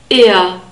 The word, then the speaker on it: er: not a e and we have a central our sound at the end so slightly more constricted than the norm will open our sound ear ear the word for she